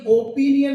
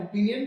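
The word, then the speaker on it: opinion: ये ओपिनियन नहीं है, ध्यान दीजिएगा। लोग इसको बोलते हैं ओपिनियन, दैट्स नॉट करेक्ट, वो करेक्ट नहीं है। The correct pronunciation is ओपिनियन।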